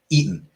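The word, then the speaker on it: Eton: Eaten. Eaten as in like eaten college specifically like E O N as in like eaten in the UK.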